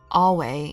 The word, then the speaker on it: Ave: Ave is pronounced Awe.